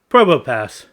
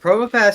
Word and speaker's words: Probopass: No, this was Probopass. He is a robot, well, cyborg, who passes the entrance exam straight into S class. Also, the P is silent like in Pterodactyl.